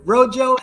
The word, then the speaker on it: Rojo: Like Rojo. Mojo. Okay. Yeah. Mojo to Rojo. He started Rojo, an early Web 2.0 company that pioneered new concepts in social media consumption and sharing.